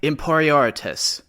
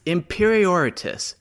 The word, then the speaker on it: imperior: repeat it in n imperius uh close but not quite it's imperior not whatever you said remember Precision is key